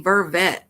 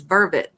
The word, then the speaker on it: vervet: I always say vervet, and that's not how you say it. It's vervet, or what they call them green monkeys.